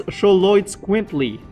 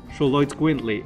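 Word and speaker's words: Xoloitzcuintli: I'm gonna pronounce that. Good luck. It's Choloitz Quintly. Oh. Choloitz Quintly.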